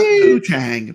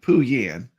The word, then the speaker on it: Pooyan: J production, not Poo-Tang, Pooyan. Poo-Tang's something else.